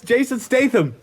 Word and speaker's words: Jason Statham: Jason Statham. Jason Statham. Jason Statham. I can't say his name. It's Jason Statham. Did I get it? Yeah. Yay! But Anyway, you can't pronounce the TH.